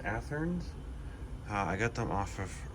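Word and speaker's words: Athearn: I believe it's pronounced Atherns.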